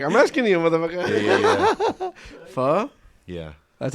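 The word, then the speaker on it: phở: Yeah, Isn't pho Vietnamese?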